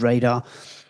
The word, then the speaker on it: RDR: Sometimes we call it RDR because that's how the letters are, but sometimes we call it radar. It's a bit easier to pronounce.